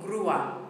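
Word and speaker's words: grúa: the pickup truck guua if the accent wasn't there it would be gr gr or something gr gr but we've got the accent on the U making it grua making a two syllable word and if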